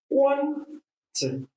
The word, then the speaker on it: quantitative: The stress is on quant. So, just like quantity, quantity, qualitative, quality. The stress are all on the first syllable.